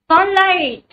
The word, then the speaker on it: sunlight: Sunlight. Sunlight. Sunlight. TH. It is not I, it is GH.